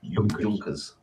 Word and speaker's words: Junkers: It's like Junkers it's not all, Junkers is Junkers. Y, not a J.